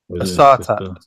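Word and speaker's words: Assata: Asata.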